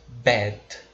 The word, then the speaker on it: bed: A pronúncia é bed. Você tenta repetir comigo. Bed, tá? O D ele é bem fraquinho também. Nada de falar bed. É bed, tá?